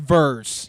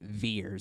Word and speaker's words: Vers: but they pronounce it veers it's really weird that would be like if my name was tener that that that's not how that works V RS is verse those cre man just